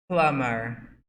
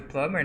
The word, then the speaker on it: plumber: Nesse caso do plumber, né? Você tem que lembrar que a gente não vai pronunciar a letra B. A gente escreve plumber, mas a gente não escreve o B. A gente silent.